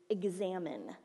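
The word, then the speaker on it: examen: This week we are going to learn and practice a spiritual discipline called the examine. And it's spelled E-X-A-M-E-N. Which is different than like a test or an examination.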